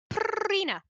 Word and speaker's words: Purina: lost bloodline of the purina cats you see prina that's technically how you pronounce it then won't you have